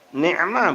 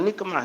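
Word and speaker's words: نعمة: Ni'mah bukan nikmah. Ni'mah itu nikmat. Nikmah itu bala artinya, kebalikannya. Jadi nak benar-benar hati-hati bacanya.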